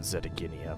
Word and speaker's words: Zetaginia: I I know they pronounce it Zetaginia, but I don't know. It sounds better with a J sound.